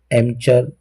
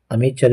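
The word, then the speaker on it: amateur: एमचर या अमेचर भी इसका प्रोनाउंसिएशन होता है।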